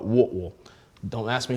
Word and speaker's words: Whitwell: of chattanooga tennessee called whitwell if you're from there they call it what will don't ask me how